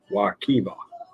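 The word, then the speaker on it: Wekiwa: Local tip: Wakiva and Wakia are both pronounced Wakiva.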